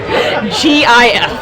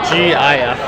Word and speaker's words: GIF: It is pronounced GIF. Yeah. Okay. GIF.